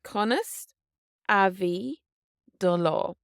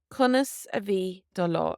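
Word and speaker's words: Conas a bhí do lá: How was your day is Conas Avi do law. Conas Avi do law. And quickly, Conas Avi do law.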